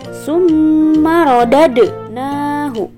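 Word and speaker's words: ثُمَّ رَدَدْنَاهُ: di pantulkan Contohnya seperti Summer rodadnahu nah disini huruf Dal berharakat sukun maka cara membacanya harus di pantulkan menjadi sumaro dad nahu kedua tanda baca Mad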